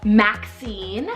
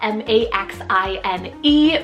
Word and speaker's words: Maxine: it's really great traits behind your little boy Maxine well m-a-x-i-n-e Maxine this is a wonderful so underrated vintage